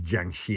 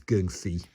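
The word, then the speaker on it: 僵屍: I know it says Jiangxi in the book, but I believe that's the Mandarin Chinese pronunciation of it. In Cantonese, it's geung-si.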